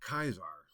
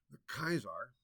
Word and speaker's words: Caesar: Zar CC a r In classical Latin the pronunciation of a c is a hard C and the AE is